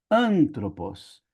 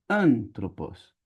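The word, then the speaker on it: ἄνθρωπος: Então, como ele tá nessa sílaba, a gente fala antropos e não antrópos e nem antropós. é antropos.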